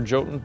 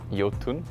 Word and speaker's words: Jotun: Thunder Lotus as a studio well for for Jotun specifically I'd say it's definitely the the combination of the hand-drawn art the epic boss fights and the Norse mythology as I understand it it is pronounced yatin we pronounce it jotun so we've been getting